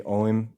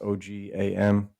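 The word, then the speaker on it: Ogham: from the Agam, or, I know the modern people, they say Oim now, but it used to be like pronounced Ogam, Agam.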